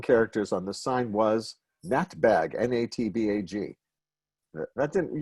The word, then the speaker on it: Natbag: that bag because what we pronounce it as if as an acronym as if it were not bug and it's the acronym